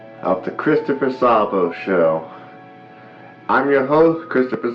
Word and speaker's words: Szabo: Welcome to Season 3 of the Christopher Szabo Show. I'm your host, Christopher Szabo. And by the way, American Johnson, the Z is silent.